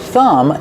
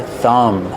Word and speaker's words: thumb: Remember with thumb the B at the end is silent. This is your thumb.